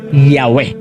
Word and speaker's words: Yahweh: Several early Greek writers of the Christian church testified that the name YHWH was pronounced Yahweh.